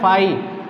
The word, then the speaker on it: phi: हम पढ़ रहे हैं ये है फाई, ये हिंदी वाले फा से शुरू होता है, फाई PHI फाई।